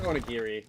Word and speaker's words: onigiri: I think it's onigiri with a hard G.